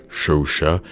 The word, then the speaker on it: Chauchat: is a French gun pronounced, I think it's pronounced like Chauchat, and it's in real life, it's like classified